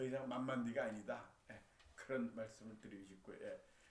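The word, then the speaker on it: 慢慢的: 그게 바로 한자로 쓰면은 만만적 이렇게 쓰는데 이 땅지자도 써요. 만만디 만만디에 만만지 땅지자 그게 디로 발음하거든요.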